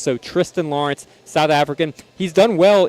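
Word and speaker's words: Thriston Lawrence: And then, uh, Tristan Lawrence, 90 to1, a South African. He has an H. It's spelled Thristan.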